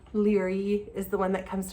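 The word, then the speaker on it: Laoghaire: I read it, even though you read it phonetically. But that's in there, which is very helpful, especially for characters' names, right? Leary is the one that comes to mind, or Leghair, as some people call her.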